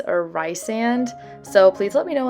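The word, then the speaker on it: Rhysand: the audiobook version and in the first book she pronounces it recent but in all the books after that it's resand but i know a lot of people pronounce it rice or rye sand so please let me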